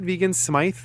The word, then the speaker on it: Vegan Smythe: Is that how they pronounce it? Vegan Smythe? Mm-hmm. That's how he pronounces it.